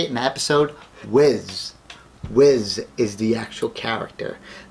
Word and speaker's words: Whis: I heard Frieza say it in the episode, Whis.